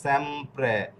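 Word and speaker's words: sempre: বুঝাচ্ছি অতএব মিউট থাকেন এই যে এস এস এস এ এস একটা উচ্চারণ হয়েছে এখানে এম এ অক্ষর রয়েছে তো এম এ অক্ষর যেহেতু কনসোনন্টে কনসোনন্টের পরে বুকালে নাই ওকে কনসোনান্টের পরে বুকালে নাই তো যেহেতু বুকালে নাই এস এ এম এই তিনটা একসাথে হবে সেম এরপরে পি আররে প্রে এটা র ফালার উচ্চারণ করবে এরপরে হচ্ছে প্রে তাহলে তাহলে স্যামপ্রে এইযে দেখুন ফিস উচ্চারণটা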